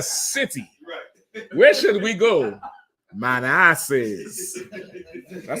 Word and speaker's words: Manassas: Okay, it's not pronounced man asses, but I believe those names come from Native Indian chiefs. Chesapeake, Manassas, Potomac, Seattle.